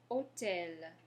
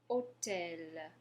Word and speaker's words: hôtel: All right, and our next example is hôtel. Hôtel. Go ahead and say that. Hôtel. Good. Hôtel. So remember, your H is mute, so we're not pronouncing the H.